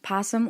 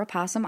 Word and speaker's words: opossum: Possum or Opossum Island, depending on who you are and what region that you are from, how you say it, was a small island that was near the actual island.